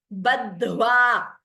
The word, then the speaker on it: बद्ध्वा: Badhva. The first the is alpaprana. Second dha is mahaprana.